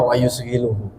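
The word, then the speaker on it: ويشغله: Kalau bahasa Jawanya wausghiluhu ini bacanya sebenarnya wausghiluhu wausiluhu Dan menyibukkanhu kepada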